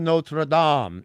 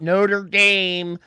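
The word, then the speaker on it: Notre-Dame: Frankenstein so hey exactly thank you for pronouncing that correctly Hunchback of notredam not Notre Dame that's how Homer Simpson would say it Notre Dame I know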